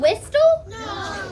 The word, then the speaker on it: whistle: I'm not saying whistle. Are you saying whistle? No, so you have a silent T in that word, right?